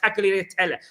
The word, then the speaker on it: tagliatelle: I've had tagliatelle.